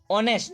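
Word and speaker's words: honest: लेकिन इसको जब अपन बोलते हैं जब इसका उच्चारण करते हैं तब इसमें साउंड आता है और नेक्स्ट ऑनेस्ट रात को नेट यह इसका राइट प्रश्न है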